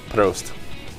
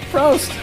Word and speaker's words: proost: Proost. Okay, that works. Prost.